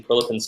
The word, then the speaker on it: Prilepin: So from Kin, how do you feel about using Prilepin's table as a way to regulate training volume as opposed to the RPE system?